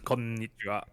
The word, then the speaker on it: Konnichiwa: konnichiwa. Konnichiwa. That means like hello, right? Kon- In Japanese. Konnichiwa. Konnichiwa. It's Konnichiwa. gonna take a while. Konnichiwa. Konnichiwa. Konnichiwa. You hold on to the N.